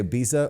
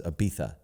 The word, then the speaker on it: Ibiza: It's true way to pronounce it is Ibiza.